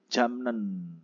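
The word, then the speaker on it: 잡는: gitu ada yang pertama tulisannya kan jabnen gitu ya biip ketemu dengan Nin itu berubah menjadi m jadi bacanya menjadi jamnen gitu kata dasarnya capta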